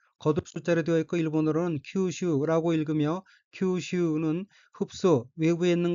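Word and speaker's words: 吸収: 둘째 줄 맨 왼쪽 어휘는 한자가 한국어로 흡수이고 마실 흡, 거듭 숫자로 되어 있고 일본어로는 큐슈라고 읽으며 큐슈는 흡수, 외부에 있는 것을 내부로 빨아들이는 것, 자기의 것으로 받아들이는 것이란 뜻의 명사 또는 수로 타동사입니다.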